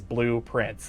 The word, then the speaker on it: Blue Prince: So, it's it's it the name of it blue, but it's it's you know, it's pronounced the same way as Blue Prince like like you know the prints that are blue that make up, you know, the visualization of a house.